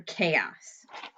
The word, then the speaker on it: chaos: you come up with how to do the ku sound the beginning sound here ch for chaos all right let's do